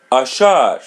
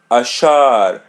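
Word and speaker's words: achar: Ash ashar. Repeat part of the part. A ashar ashar letter r is pronounced as English are ashar.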